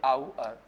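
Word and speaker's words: hour: आवर, फैन, पेन, फैन, पेन, बाउअर, बाउअर, power, ये आवर, आवर, इसको भी आवर बोलते हैं, आवर, इसका जो सही उच्चारण है वो ये आवर, आवर, ठीक है ना।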